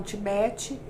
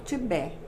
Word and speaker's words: Tibete: Então, eu vou falar do Tibete, que uns falam Tibete, eu falo Tibete. O T é mudo.